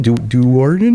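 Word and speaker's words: Do'Urden: Darden.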